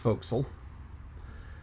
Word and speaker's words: forecastle: the front part of the ship and it's pronounced foxel and i goofed that one but i learned